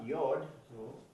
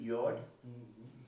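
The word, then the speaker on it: יוד: Esta es la Y, la Y o la Yod. se pronuncia así, Yod.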